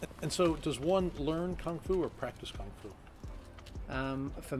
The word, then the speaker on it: kung fu: I'll say it in my lingo, kung fu. So kung fu is the Cantonese pronunciation of the word kung fu, and Bruce Lee is an amazing icon for Chinese martial arts.